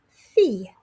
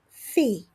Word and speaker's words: fille: Now, fille is a little quirky in that we don't pronounce the double L. So, it's sort of like fee, a fee you pay with a y on the end. Fille. Fille.